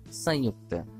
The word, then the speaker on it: संयुक्त: लेकिन जैसे ही ये स के ऊपर लगा तो स के ध्वनि के साथ उच्चारण करेगा और ये हो जाएगा संयुक्त। तो आपने देखा कि स